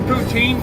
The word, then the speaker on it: poutine: It's actually called pudding. You pronounce it poutine, but it's pudding.